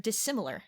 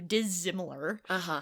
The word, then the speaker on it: dissimilar: So one that Stacy just used a few sentences back was the word dissimilar. Yes. And so that it doesn't turn into dissimilar, right?